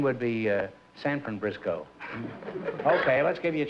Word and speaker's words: Briscoe: I'm Briscoe. Well, you're a very cute... Briscoe? Mm-hmm. English-Irish. Frisco? Frisco. Like, rhymes with Frisco, huh?